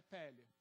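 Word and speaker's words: פלא: aportuguesado claro mas a pele o vocábulo portuguesa virá a pronúncia mais ou menos pele sabe o que ela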